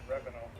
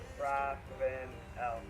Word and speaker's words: Ravenel: No, not Revenal. How do you say it? Ravenel.